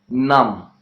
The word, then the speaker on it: numb: Well, there are many words in which B is not pronounced. Letter B means the sound B is not pronounced. For example, if you talk about the sounds lamb, calm, numb, okay, limb, and climb, okay,